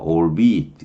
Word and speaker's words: albeit: 장어로 발음합니다. all be it 이렇게 하는데 뭐뭐이기는 하지만 뭐뭐라 할지라도 이런 표현인데 so be it은 뭐냐면 그렇다면 좋다.